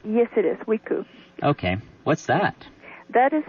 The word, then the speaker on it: Wiku: Is that pronounced correctly? Yes, it is, Wiku.